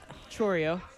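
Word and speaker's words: Chourio: Churio.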